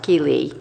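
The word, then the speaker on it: Ky Le: his name is difficult it's K-Y and then Le but pronounced Keeley and he's the homeless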